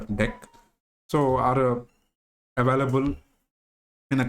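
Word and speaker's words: deque: But other data structures like DQ, that is actually should be pronounced as DEC, so are available in a collections, or you can use NumPy and pandas.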